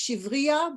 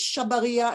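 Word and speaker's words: שבריה: hoe and a knife, which in the song is pronounced shivria, but my husband says the real pronunciation is shabaria, and you can see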